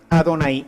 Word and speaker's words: Adonai: hebreo cuando la leyera leyera la palabra yah Así estaba Pero ellos tendrían que pronunciar Adonai y ahí estaban entonces